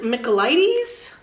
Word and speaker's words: Michaelides: is the fury by Alex mides I believe is how that is pronounced I think this one's